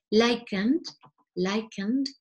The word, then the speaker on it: likened: lichen, pero claro, lichen, y luego añadimos el ED, por lo tanto, no se pronuncia la E, pero sí la D. Likened, ¿vale?